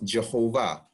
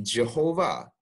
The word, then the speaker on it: Jehovah: So the second thing is, if it's Yehovah, why do we pronounce it Jehovah? And this is because of the way English evolved.